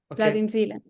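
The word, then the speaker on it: Vadim Zeland: Vladim Zealand.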